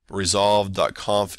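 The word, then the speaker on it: resolv.conf: and then resolve comp resolve Kampf is spelled without a trailing Yeun resolve so it's alright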